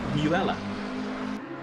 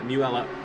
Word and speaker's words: Mueller: of car number 30 it says muella as opposed to Mueller I do apologize I've only just noticed a little unlab of the year so yeah muella we'll do my best to force